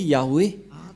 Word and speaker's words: Yah: dieu juif s'appelle ya Yod et he c'est bien clair donc il y a plus rien à contredire la parole du grand-père Moché est très claire ça se prononce ya et comment on va